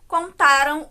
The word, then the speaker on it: contaram: Então, a gente tem aqui, por exemplo, contaram o boato por toda parte. Contaram aqui é o nosso verbo que está no tempo passado e que tem como sílaba tônica o tá, enquanto o contarão o